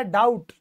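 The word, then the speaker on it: doubt: यानी की कर्जा फिर टी से पहले भी ए गया तो यह भी साइलेंट हो गया यह बन गया डाउट डाउट डाउट बोलते हैं डेब्यू नहीं बोलते यानी मतलब मैं बोल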